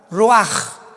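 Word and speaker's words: רוח: Pero la ch en el hebreo se pronuncia como j. Roaj.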